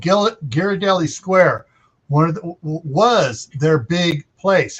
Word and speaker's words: Ghirardelli: How do you pronounce the name of the chocolate? That's called Ghirardelli. Italian. Ghirardelli.